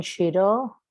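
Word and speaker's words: Xirau: Ramón Chiró, sí, así se pronuncia, es catalán. Pero no, pronúncialo en español, no pasa nada.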